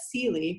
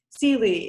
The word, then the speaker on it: Celie: novel the color purple it's not just that celie and that's how you're supposed to pronounce it celie is a woman it's also that she's black